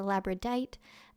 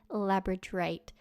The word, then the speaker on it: labradorite: the stone incorrectly as labradite. I am well aware now that there is an extra R in there and the actual stone's name is labradorite.